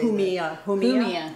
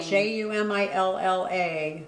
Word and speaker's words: Jumilla: From Jamia, I don't know how you say Humilla, Spain. Jumilla, but the L's we learned are pronounced with a Y.